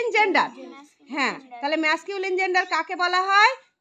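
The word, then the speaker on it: masculine: বলা হয় ম্যাসকিউলিন gender কেউ ম্যাসকুলিন বলে কেউ ম্যাসকিউলিন বলে কিন্তু আসল উচ্চারণ হচ্ছে ম্যাসকিউলিন জেন্ডার এটা আরেকবার বলে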